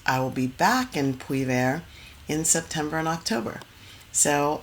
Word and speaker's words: Puivert: Yes, I'm in transit to a beautiful village in the south of France called Poular. You can look it up on the map. It's spelled Puivert. Poular.